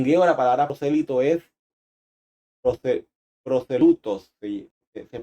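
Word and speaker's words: προσήλυτος: En griego la palabra prosélito es proselutos, se pronuncia así, que significa convertido, uno que ha llegado al judaísmo.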